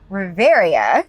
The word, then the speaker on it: Reverya: I am here with a new band today, Riveria. Did I say it right? I keep saying it wrong. No, you said it.